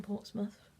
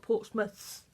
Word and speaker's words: Portsmouth: was brought up in Portsmouth and yes I do pronounce it Portsmouth not Portsmouth's I thought considering there's